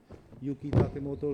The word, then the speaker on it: Yuki Takemoto: I have learned over years to pronounce her name properly. Yuki Takemoto to moderate this discussion.